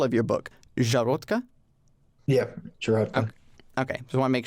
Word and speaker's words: Szarotka: And before I get to the next question, I do want to clarify pronunciation. So the title of your book, Szarotka? Yeah, Szarotka.